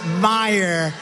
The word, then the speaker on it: Meijer: against one of the 10 impeachers, a guy who spells his name M-E-I-J-E-R, but they pronounce it Meyer.